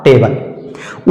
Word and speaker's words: table: उसी तरह से इस T को A के ऊपर अप्लाई कर देना है और इसका सही उच्चारण हो जाएगा टे, टे। जैसे A वैसे टे, और BLE को पढ़ते हैं बल, तो इसका सही उच्चारण हो जाएगा टेबल।